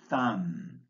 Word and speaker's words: thumb: Take, for example, the consonant B, which is silent in these words. Bomb, bomber, comb, crumb, debt, doubt, dumb, lamb, plumber, subtle, thumb.